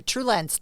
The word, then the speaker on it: TrueLens: TrueLens, 2 syllables.